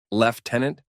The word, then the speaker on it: lieutenant: her face figing flustered I don't think I've ever heard my rank pronounced like that and left tenant Victor smirks it's the correct pronunciation she smirks back you